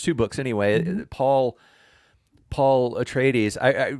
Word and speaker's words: Atreides: said attradies so i always think of them as paul attradis but atreides and the planet ericus which i used to call ericus but now it's called arrakis but you know reading